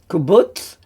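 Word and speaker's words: קובוץ: And then we have a kubutz, which is a slightly longer oo sound because it's ku rather than shu. Shu is short, ku is longer, kubutz.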